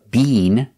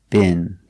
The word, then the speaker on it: been: the pronunciation of bin we don't use the long e bean they do that in england but in america we don't say bean we make the short bin bin have you ever been